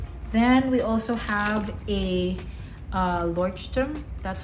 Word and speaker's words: Leuchtturm: Then we also have a Leuchtturm, that's how you pronounce it.